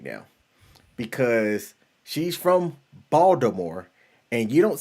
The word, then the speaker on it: Baltimore: the NYPD she says never say the T in Baltimore LOL then why don't they just spell it that way the mayor put in a petition to just change it to the way that people say it how about that and